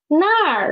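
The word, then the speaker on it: 那儿: It is nar, right? Nar. So we can see here is this plus a er, zhe plus a er, and there is na plus a er, that plus a er, nar.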